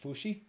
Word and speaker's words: Fauci: Fucci? I don't know. Anthony Fauci. I want to say it's Fauci. Oh, yeah. I was, Fauci.